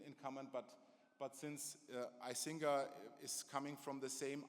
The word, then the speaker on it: Icinga: but then it's like I Singa Singa Singa and honestly it's like singer you have to click